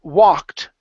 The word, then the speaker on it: walked: Okay, next we have the word walked. Okay, so a couple things here. First up, the L is silent.